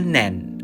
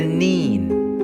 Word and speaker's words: Nene: of its name changes upstream to the south it is known as the nen as in ten downstream to the north it is the nin as in being really